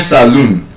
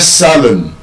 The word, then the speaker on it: salon: It's not a saloon, a salon.